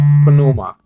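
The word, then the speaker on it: πνεῦμα: it's better it's better pronounced like uh panuma because the p is not silent in greek doll it's silent in english like psalms but it's not silent in greek though so i mean you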